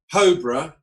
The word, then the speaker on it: Hobrough: Hobrough, they pronounce it a million different ways. So I like to say it's just like cobra, but with an H.